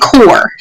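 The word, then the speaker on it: corps: populace popular corporation and core now this looks different Christa P is silent and so is the S okay it's just core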